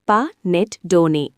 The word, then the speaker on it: Panettone: பனட்டோன் உச்சரிப்பு பா நெட் டோனே என்பது இத்தாலிய இனிப்பு ரொட்டி வகையாகும்.